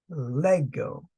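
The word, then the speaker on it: λέγω: Lambda Epsilon gamma Omega and pronounced Lego the accent on the first syllable others actually in Greek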